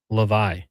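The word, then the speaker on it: Hlavaj: Samuel Levi. That's not how it's spelled, but per the NHL pronunciation guide, Samuel Levi set a record, a Slovak record.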